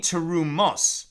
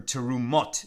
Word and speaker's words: terumos: What does it mean, terumos, right? Plural. or terumot in more Sephardic pronunciation.